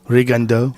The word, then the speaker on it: Rigondeaux: Yes, I think the way you pronounce it in French is Rigondeaux.